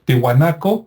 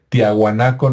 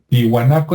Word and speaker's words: Tiwanaku: Y también Tiwanaco, que me cuesta trabajo pronunciarlo porque también me acostumbré a decir Tiahuanaco, ¿no? Por el History Channel y el Discovery, que así le decían, pero Tiwanaku está relativamente cerca del